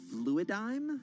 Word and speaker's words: Fluidigm: Fluidigm? Is that how you pronounce it?